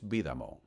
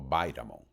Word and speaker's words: Bidamon: casar y se casó con Lewis Bidamon, o Bidamon, como quieran pronunciarlo, como quieran escucharlo.